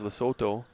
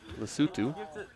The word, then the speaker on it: Lesotho: Matt, I thought it was Lesotho, and you came in here and pronounced it as it should be, and I